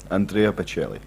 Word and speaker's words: Andrea Bocelli: Andrea Bocelli, is that right? Is that how you say it? Andrea Bocelli. Yeah. What You say it, David? Andrea Bocelli.